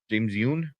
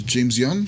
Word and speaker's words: James Wan: But oh man, yeah, this was James Yoon. How do you pronounce his name? I could have sworn it was James Wan.